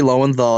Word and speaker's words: Lowenthal: Lowenthal? Yuri Lowenthal. He's like one of the biggest now. Like in hindsight, I was kind of short thought of it because I was like, oh man, Yuri Lowenthal would be great.